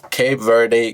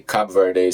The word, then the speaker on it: Cape Verde: Cape Verde, Cabo Verde, we may not agree on how to say it. Some people say Cape Verde, some people say Cabo Verde.